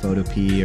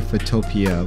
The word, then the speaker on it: Photopea: So I was calling it like PhotoPea or PhotoPea. It's actually PhotoPea, which is like kind of like PhotoPea. Makes sense.